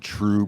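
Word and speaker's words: Trve: There's a really excellent brewery out of Denver, Colorado called True Brewing. It's spelled with a V.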